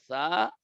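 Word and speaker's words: ث: জাল বাতাস ছাড়া, আর সা বাতাস সহ। জাল পড়ার সময় বাতাস লাগবে না, আর সা পড়ার সময় বাতাস লাগবে। আল, আস, মাখরাজ দিয়ে বাতাস বের হবে তাহলে সা, আর মাখরাজ দিয়ে বাতাস না বের হইলে জাল।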